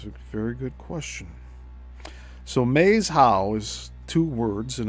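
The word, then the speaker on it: Maeshowe: So Maze How is two words, and it's spelled M-A-E-S and then H-O-W-E.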